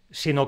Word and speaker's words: sino: como mensajes de cariño Este sino que se escribe junto no tiene golpe de voz propio y se pronuncia apoyándose en la siguiente palabra que sí lo tiene si no no tiene